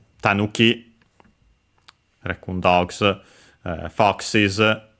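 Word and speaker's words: 狸: Actually accented on the first syllable, so tanuki.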